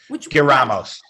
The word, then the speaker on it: giramos: Which Giramos, to turn. Oh, the giramos? Yes, yeah, that's that G. How is that G pronounced? Oh, okay. Giramos. The G will say, yeah, G-E-G-I sounds like the throaty J.